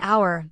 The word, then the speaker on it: hour: An hour, the H is silent.